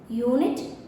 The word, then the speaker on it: unit: Because unit, the sound is U, which is a consonant sound.